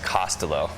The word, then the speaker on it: Costolo: forward for Twitter but Dick's last name is pronounced costelo so I've seen so many pronunciations of the